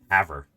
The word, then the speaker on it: Havre: Havre is how it's pronounced in Airthos in Montana.